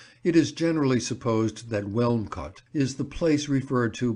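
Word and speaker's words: Wilmcote: is generally supposed that welm cot is the place referred to by Shakespeare in the induction to The Taming of the Shrew as windot the name is locally pronounced in that way as it would be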